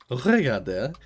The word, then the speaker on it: regarder: Regarder. I have to remember not to pronounce the last R.